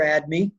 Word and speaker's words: ADME: We call this ADME or ADME because we're lazy. ADME's 2 syllables.